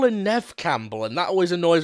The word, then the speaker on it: Neve: Campbell they call her Nev Campbell and that always annoys when people call her neev cell at least I think it's pronounced Neeve but I don't know I've never heard NE Campbell say it what if it is